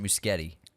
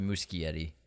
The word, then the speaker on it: Muschietti: moving forward may I correct you it's he pronounced it muskete not the musky Eddie this yeah Andy pronounces it muskete so it's